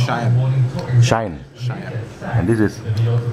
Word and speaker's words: Sayan: name again s a y a n it's pronounced shy sh sh and this is Uncle Ry and